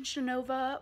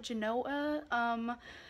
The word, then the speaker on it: Genova: have random clips so I went to Genova but Americans call it Genoa they don't pronounce the V for some reason and they don't spell it with the V so it's Genoa Genoa